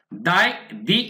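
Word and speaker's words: the: পরের অংশ পড়বো আমরা আফটার দ্য ইনসিডেন্ট, এই ঘটনার পর, আফটার মানে পর, তাহলে বন্ধুরা দি ইনসিডেন্ট মানে ঘটনা, এখানে উচ্চারণ হবে দি ইনসিডেন্ট, এই ঘটনার পরে মানে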